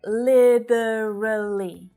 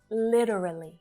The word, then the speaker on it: literally: It sounds more like a D. Literally. Very short vowel sounds. Literally. Literally. In the UK, it's more common to hear the 3-syllable version. Literally. Literally. And that's because of that more pronounced T sound, right? That's a feature of their accent. Literally. And here in Australia, we literally use both versions. Literally. Because we also use the flap T too. So you can take your pick here.